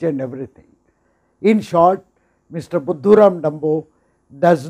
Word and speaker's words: Buddhu Ram: Buddhu Ram is a Hindi word which actually rhymes with Mr. Dumbo in English.